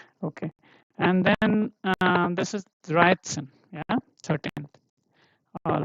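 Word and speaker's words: dreizehn: And then this is Dreit, and Sen, Dreitzen, because this T set is this combination, right? T and S, right? So here you have to read it as Dreitzen.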